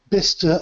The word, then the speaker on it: Bicester: That was at Bicester in the UK. Now, I'll probably have to spell that for you because Bicester originally was a Roman town. So it's pronounced Bicester, but it's spelt Bicester.